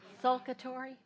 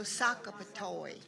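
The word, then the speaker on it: Socapatoy: Saka toy. How did you spell that? Uhhuh. S O C A P A T something. What' you say? Sulcatory. No. Sakatory.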